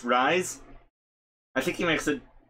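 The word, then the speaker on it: Reize: go now the captions his name is r-e-i-z-e i'm pretty sure it's supposed to be pronounced rise i think he makes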